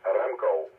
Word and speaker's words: Remco: Well, if you want to pronounce it correctly, it's Remco, with a rolling R. Remco, just like Scottish.